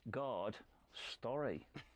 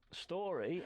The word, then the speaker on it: Gard-Storry: It's Spud Life, and today I've got with me runner extraordinaire, Mr. Gard-Storry. Not Story, as he's normally called. Story, yeah. Story rhymes with lorry, as I've been informed.